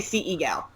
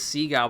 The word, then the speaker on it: CEgal: do we pronounce that I say sea eagle fair enough I was looked at as sea gal but that sounds a lot like seagull yeah that doesn't sound right